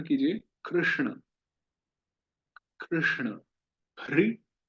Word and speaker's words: कृष्ण: तो जीभ शॉर्टकट लगाती है वहां पर, र और श उच्चारण कर देती है। तो हमें पीछे मोड़ना है और उच्चारण करना है कृष्ण।